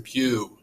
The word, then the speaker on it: Pugh: Pugh and this is the video for computer science. So as you can see here, my full name is Pugh, which rhymes with through.